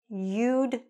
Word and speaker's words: you'd: Make sure when you're saying it, that we can hear that D sound. Because if you don't hear that D, then what does it sound like? Just listen. You visited. That's a different tense completely.